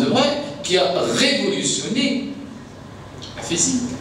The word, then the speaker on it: de Broglie: Je vous donne l'exemple de Breuil, qui a, bon ça s'écrit de Broglie, mais bon, ça se prononce de Breuil, qui a révolutionné la physique, mais qui était à la base professeur d'histoire-géographie.